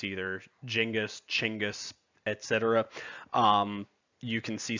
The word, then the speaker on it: Genghis: Genghis is probably the closest pronunciation to correct of his name.